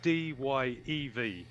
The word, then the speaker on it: DYEV: Just to confirm for everybody in the chat, it's DYEV. Yes, DYEV. You got it. Like the DyeV. Like the DyeV, because Dye is our last name, and it's spelled DYE.